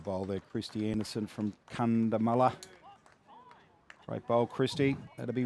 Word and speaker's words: Cunnamulla: It's Cunnamulla. They'll kill you if you go out Cunnamulla. How did I pronounce it, Cootsy? Cunnamulla. Oh, Cunnamulla. There's no D in there, mate.